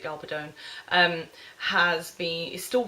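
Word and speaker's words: Gabaldon: since the '90s um the author Diana galon or galadon however she pronounce I think she pronounces it galadon um has been is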